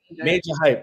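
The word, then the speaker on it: Majah Hype: I think that's how it's spelled, but I think he's pronounced Major Hype, right?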